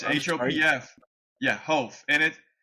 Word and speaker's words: Hopf: you some negative feedback my my last name's pronounced ho H like it's hopf yeah ho and it it's it's one of